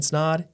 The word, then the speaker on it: Snod: My name is Snod. It Rhymes with Odd, and we'll catch you in the next episode.